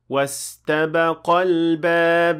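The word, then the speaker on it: واستبقا الباب: And here you have to remember, and I have to give a reminder, that the alif is not pronounced. The alif is dropped because of iltiqa'u al-sakinain.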